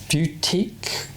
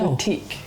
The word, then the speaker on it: boutique: It's a boutique. Sean can't say it. Yeah. He keeps saying boutique. Boutique hotel. Just because there's a U in it doesn't mean you need to pronounce it.